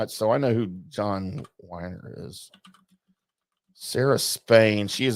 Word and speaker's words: Weiner: Is it Weiner? It's pronounced Weiner, yeah. Okay, because it's spelled. At least that's how I've always heard it.